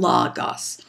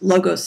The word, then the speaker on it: logos: and that is that the Greek language way of saying these is ethos, pathos, and logos. However, it's perfectly acceptable to say ethos, logos, and pathos.